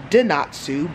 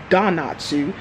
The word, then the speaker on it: Donatsu: to don natsu and savannah keeps telling me i'm not saying it right because i kept saying dinatsu but no it's donatsu so we got vegan